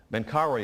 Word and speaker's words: Menkaure: Menkaure is spelled M-E-N-K-A-U-R-E.